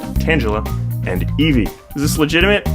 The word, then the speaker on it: Tangela: lately, those names being Paris, Abra, Onyx, Tangela, pronounced Tangela, and Eevee.